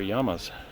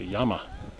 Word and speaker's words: llama: And the other two are llamas. Double L is pronounced ya, so it's a llama instead of a llama.